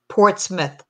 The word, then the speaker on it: Portsmouth: you get an i it's pronounced Port Smith uhuh uhuh New England